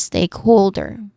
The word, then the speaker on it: stakeholder: Pronunciation wise stakeholder. There's three distinct sounds starting with steak which is our primary stress still on the first syllable. Steak. This sounds exactly like the word steak.